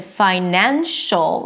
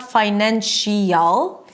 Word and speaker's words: financial: Now, when this suffix appears after a 'sh' sound, then you don't hear this '-ial' sound as in "financial", right? It's not 'finan-shial', you don't hear two vowels.